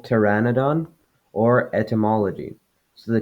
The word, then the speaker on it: pteranodon: The T sound can be spelled with a T or a PT. For example, pteranodon or etymology.